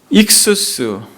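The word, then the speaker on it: ἸΧΘΥΣ: 익수스, 흔히들 사람들이 이것을 익투스라고 발음합니다.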